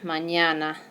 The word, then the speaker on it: mañana: you can just pretend like it's written like this mañana so that would be like a nyet yeah sound mañana mañana all right well